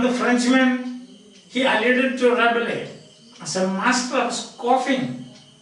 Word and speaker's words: Rabelais: Rabelais. The last syllable is lost.